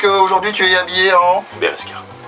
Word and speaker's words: Berezka: Donc aujourd'hui, tu es habillé en Beresca. Bereska ou Berosca, selon comment on prononce et selon le camouflage qui a dessus.